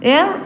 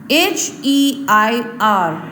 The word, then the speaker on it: heir: Heir apparent means the one who will succeed the throne or will be the next king. Heir is pronounced as heir. Heir. H is silent.